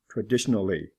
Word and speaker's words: traditionally: incidental incidentally not pronounced traditional traditionally whole is pronounced for example incidentally how